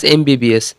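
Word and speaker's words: MBBS: দ্বিতীয় নম্বর, mister Das is dash এমবিবিএস। এখানে অ্যান বসবে। সাধারণত আমরা জানি এ ই আই ও ইউর আগে অ্যান বসে, কিন্তু এখানে এমটা এন উচ্চারণ হবে, তাই জন্য অ্যান বসবে।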